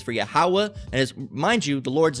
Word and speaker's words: Yahweh: Some people would incorrectly say Jehovah or Jah or Yah or Yahweh, but the correct pronunciation is Yahweh.